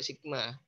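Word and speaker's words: σ: Sebenarnya bacanya juga sigma.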